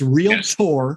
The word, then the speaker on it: realtor: um or a realtor i have to say it correctly or yeah yeah get it right it's real tour it's really you know